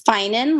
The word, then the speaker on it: Finen: for being here and is your last name pronounced uh feminine or finen it's fine in like fine and dandy great got it thank